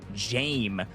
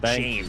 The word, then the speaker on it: Jame: but also Nasp and Jame, by the way, is how that's pronounced. I've been seeing it in the chat. They've been helping me out. Jame.